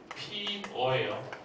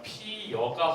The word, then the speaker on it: 피어: 꽃이 피어의 원칙 발음은 뭐가 되고 있어요? 피어예요. 됐죠? 피어가 원칙 발음이 되고 있었는데 뭐가 허용이 되냐면 피여가 허용이 돼요. 피어. 왜냐면 꽃이 피어하고 어느 게 발음이 편한지 여러분 생각해 보셔야 돼요. 꽃이 피어. 피어가 훨씬 더 자연스러워요. 음운의 변동이 일어나는 이유는 뭐라고요? 발음의 경계성, 발음의 편리성 때문에 그래요. 그래서 어와 여가 모두가 다 허용이 되죠.